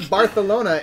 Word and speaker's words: Barcelona: think about my apologies like barthelona it's like it is if you speak Castilian Spanish yes yes that is